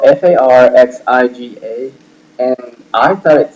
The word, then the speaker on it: Farxiga: Now, on the other hand, the ad that I thought was the worst was this ad by Farxiga.